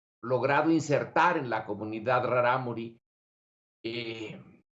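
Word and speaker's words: Rarámuri: que me enseñó que no se dice taraumara se dice raramuri lo eh vi su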